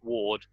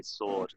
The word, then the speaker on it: sword: sword w we don't we don't pronounce the W we don't say it's Ward we just say sword it's a it's a silent letter all right the children